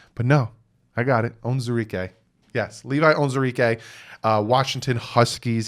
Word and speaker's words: Onwuzurike: Micah Parsons, I said his name wrong. I get so much crap. Levi ONWUZURIKE. Yeah, I said this name right. ONWUZURIKE.